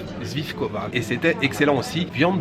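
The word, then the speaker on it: svíčková: très populaire ici qui s'appelle attention à la prononciation zvifkova zvifkova et c'était excellent aussi viande de bœuf d'ailleurs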